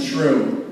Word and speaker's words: Troom: And my 2 little brothers, Bun and Troom. That's right, hamburger bun and Troom rhymes with broom.